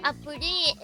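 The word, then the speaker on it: アプリ: But apuri is how they say it in Japan.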